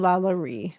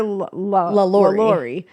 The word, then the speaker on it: LaLaurie: to say it because you hear LaLaurie. That's what I've always heard. The correct pronunciation is actually LaLaurie. I mean, that makes sense because it's like French.